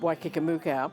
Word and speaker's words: Waikikamuka: And I said, "It's pronounced Waikikamuka. It's a fantasy place in New Zealand. There is no such place, but it's 4 Maori words put together that just comes out as, in English, Waikikamuka."